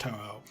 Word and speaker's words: Touhou: It is pronounced Touhou, which is a different spelling, but the same pronunciation as the studio that did Godzilla.